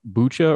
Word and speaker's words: Bucha: there's been especially in a village called bcha or bua I've heard it pronounced both ways we have some really